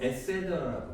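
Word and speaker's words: et cetera: ETC 해도 되고 에세더라고 합니다. 에세더. 지금 저는 뭐 하고 있죠? 잘난 척을 하고 있는 중이에요. 에세더라. 라틴어입니다. 여러분 해보세요. T 발음 안 해요.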